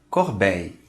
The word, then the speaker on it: corbeille: A consoante dupla L, depois de uma vogal I, não se pronuncia. Por exemplo, a palavra corbeille, que significa cesta.